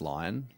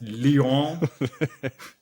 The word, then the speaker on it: Lyon: Isn't it pronounced lion? It's pronounced Lyon.